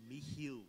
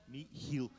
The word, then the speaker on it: Michiel: it's not quite Michael, it's not quite Michelle, so I'll let you say it correctly. Michiel. See? I can't do that. One more time. Michiel. Michiel. The trick is the phlegm in the middle.